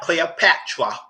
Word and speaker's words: Cleopatra: She worse needy pronouncing things weird. Well, so Cleopatra, not Cleopatra.